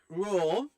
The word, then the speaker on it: Rheaume: Anyway, so PWHL Detroit have named a general manager, and it is a women's hockey legend, Manon Raw. I've definitely mispronounced that.